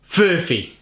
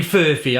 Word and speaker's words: Furphy: So Murphy is easy enough, so putting an F before it, I'm like, it's bending my brain. Furphy. It's got to be Furphy, haven't it?